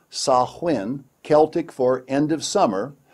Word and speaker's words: Samhain: Encyclopedia Britannica reveals quote Samhain originally pronounced sahuen Celtic for end of